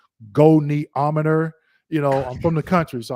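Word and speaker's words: goniometer: And I'm not a medical student, so some of these words, like I call it gonometer, but it's pronounced goneometer.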